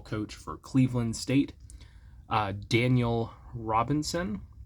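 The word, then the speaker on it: Daniyal: State uh Daniel Robinson I think is how it's supposed to be pronounced it's spelled kind of like denial uh d a n i y a l but I don't think it's supposed to be pronounced that way but he is in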